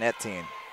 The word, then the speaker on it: Ettin: That was the correct pronunciation, Ettin.